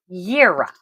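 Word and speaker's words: Jera: However, it is pronounced Yira.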